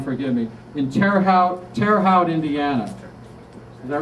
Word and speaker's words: Terre Haute: not there was a guy and if i pronounce this wrong forgive me in terre haute terre haute indiana is that right that's terre haute yeah i believe so all right good good